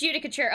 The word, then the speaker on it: Judicature: It is Judicature, okay.